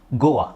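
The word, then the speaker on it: Goa: ಇಲ್ಲೂ ಓ ಎ ಇದೆ ಬಟ್ ಇದನ್ನ ನಾವು ಓ ಆ ಅಂತ ಹೇಳ್ತಿವಿ ಗೋವಾ ಗೋವಾ ಇಟ್ಸ್ a name of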